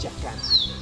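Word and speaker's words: chakana: Es chacana, ¿sí?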